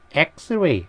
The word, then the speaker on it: X-ray: 그 다음에 X-ray. X는 철자로 하면은 이렇게 자음이지만 이거 발음으로 따지게 되면 이게 에 발음이 나게 되지. 에. 그래서 에 발음이 모음이기 때문에 on X-ray가 된다는 것이지.